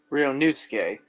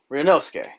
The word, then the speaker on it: Ryunosuke: all but that's what i like about you rio newskey wow i mispronounced his name for 10 cases i know but it was hard yeah you mean you know i like that better than ryonosuki ryonosuke that's cool yeah it was the evening after